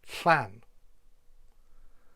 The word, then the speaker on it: Llan: A bit like if you're trying to make a hiss sound, but with your tongue firmly in the roof of your mouth. So it's Llan.